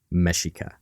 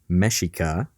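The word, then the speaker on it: Mexica: over and over again mesika that word mesika which is spelled mexic Malin translated that that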